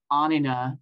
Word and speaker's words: Anina: pronounce my name and don't feel bad about mispronouncing it it's anina and I've spent my whole life correcting